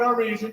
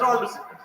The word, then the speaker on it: Armisen: Listen to Fred Armisian. He is the interpreter. Oh, please pronounce Armisen.